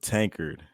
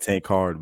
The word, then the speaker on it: Tankard: your last name completely it's Caleb tankered tanker it may look like tank hard but tankered perfect so first question